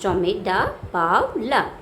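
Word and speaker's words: Tomie dePaola: Uh, Another we can say Tommy da Pavla, pronounced Tommy da Pavla, is an American writer and illustrator.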